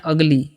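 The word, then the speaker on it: ugly: हैं थिंक ठीक है यू जी एल वाई है तो उगली नहीं पढ़िएगा इसे पढ़ना है अगली ठीक है नेक्स्ट है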